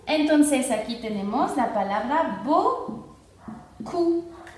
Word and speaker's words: beaucoup: Entonces aquí tenemos la palabra beaucoup y la P final no se pronuncia, entonces sería beaucoup y no se pronuncia la P.